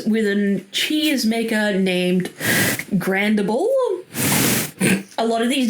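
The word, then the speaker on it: Grandible: So story starts with an cheese maker named Grandable. A lot of these names are really weird. Please bear with me. Okay. Grand like uh grand and bull as in the animal or grand i l e.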